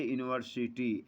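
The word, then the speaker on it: university: जैसे ए यूनिवर्सिटी, ए यूरोपियन, यह देखने में तो ई या यू से शुरू हो रहा है, लेकिन इसका उच्चारण वाई से होने के कारण उसके पहले ए लगता है।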